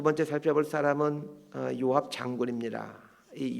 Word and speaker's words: 요압: 두 번째 살펴볼 사람은 요압 장군입니다이 요압이라는 말의 히브리어 발음은 요아브입니다이 히브리어 이름의 아브 아비